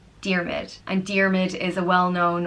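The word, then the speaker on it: Diarmuid: m''d and it means without enemy and it's pronounced dear MIT dear MIT endearment is a well known old name amongst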